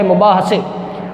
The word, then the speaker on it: مباحثے: اگلا لفظ ہے مباحثے۔ یہ لفظ مباحثے نہیں ہے، مباحثے، اس کے اوپر بھی آئے گی زبر، یعنی کہ میم پر پیش، بے کے اوپر زبر، ہے کے اوپر بھی زبر، اور سے پر بھی آپ زبر لگا سکتے ہیں، نہ لگے تب بھی خیر ہے، لگا دیں تو بہتر ہے، مباحثے۔ اس کے بعد لفظ